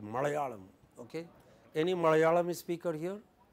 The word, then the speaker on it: Malayalam: Malayalam has, it's not Malayalam, it is Malayalam.